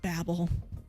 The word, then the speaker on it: Babel: Is it Babel?